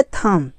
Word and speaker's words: thumb: अब आता है थम, THUMB, यहाँ पर भी बी साइलेंट है, यानी कि यम के बाद अगर बी आता है तो बी साइलेंट रहता है, तो यहाँ पर भी थम हो गया।